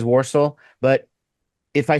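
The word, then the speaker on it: Walsall: going with that route I'm not going to pronounce it like an American I'm gonna pronounce it with the full yam yam and go warsal yeah I'm we can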